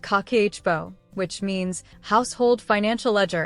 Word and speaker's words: Kakeibo: So, in 1904, she created something called Kikibo, pronounced kakeichibo, which means household financial ledger in Japanese.